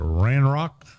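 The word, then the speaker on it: Ranrok: uh r R Rock how do you say that ran Rock Rand Rock and Rookwood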